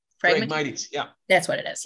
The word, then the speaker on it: Phragmites: And then how do you permanently remove, you've said this like five times and I keep forgetting how to say it, the Phragmites? Phragmites, yeah.